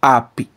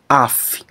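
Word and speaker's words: ἀφ᾽: Eu não vou pronunciar ap, e sim af.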